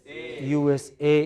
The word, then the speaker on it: USA: is the president of USA in all abbreviations in all abbreviations it is the last component please write that takes